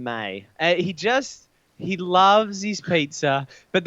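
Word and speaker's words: Meij: Meege, but pronounced Don May.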